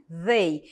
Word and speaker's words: they: Tem um som diferente, vocês perceberam que eu estou falando they. É um TH entre os dentes, é um som que nós não temos em português, tá? Então é prática mesmo para pronunciar corretamente essa palavra, tá?